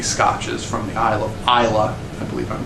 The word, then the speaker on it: Islay: An exception being the really smoky, peaty Scotches from the Isle of Islay. I believe I'm pronouncing that right.